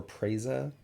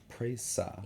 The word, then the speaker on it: Presa: Presa is it Presa or praisa prasa yeah like pray okay got it so there's an emphasis on the last uh praise uh